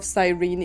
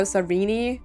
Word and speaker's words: Sirene: I want to see more of Sirene in the trailer. I know people call her Sereni, I think, in like the English pronunciation, but I don't really like that name. I don't really like it.